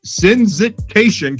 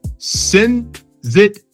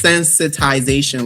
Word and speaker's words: sensitization: So you won you won the UN ODC competition for sensit sensit sensitation campaign. Wait, sensitization. It's sensitization. Like we're sensitizing people.